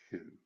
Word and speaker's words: xu: Now we use the Chinese word xu. It's pronounced shoe. Like the shoe on your foot.